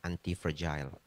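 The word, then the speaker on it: antifragile: pronounce-nya yang benar adalah anti fragile.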